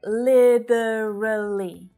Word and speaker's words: literally: accent so you'll hear literally with that flap t sound right it sounds more like a d l very short vowel sounds literally literally in the uk it's more common to hear the three-syllable version li tra li litra li and that's because of that more pronounced t sound right that's a feature of their accent literally and here in